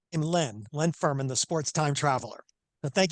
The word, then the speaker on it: Len Ferman: sports trip time traveler Leanne lean Furman how are you doing today great Brandon it's uh it's really an honor to be on the show today and I pronounce my name Len Len Furman the sports time traveler